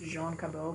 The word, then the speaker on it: John Cabot: that England sent was John Cabot he's a Frenchman his his name is really supposed to be pronounced Jean Cobell but England never wants